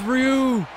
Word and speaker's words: Ryu: How do you say his name? Is it Ryu, Ryu, or Ru? We're going to go with Ru.